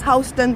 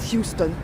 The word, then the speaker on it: Houston: here so this is West hon street it's pronounced hon because it's the name of a man John hon that's why it's not Houston like in Houston Texas it's h Mommy Mommy